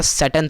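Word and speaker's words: Tsering: लोगों ने लिया उसको ड्राइवर का नाम क्या था सैटर्न था यहां पर टी साइलेंट है वो न्यू ईयर रूट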